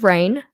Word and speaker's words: Raijn: So her name is Rain. The J is silent because where the heck am I going to fit a J in if it's not at the start of her name?